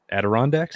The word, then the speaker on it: Adirondacks: how do you say that mountain range that adirondacks adirondacks yeah there you go i can never